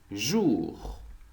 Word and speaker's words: jour: J as jour, jour. The last R is slightly pronounced.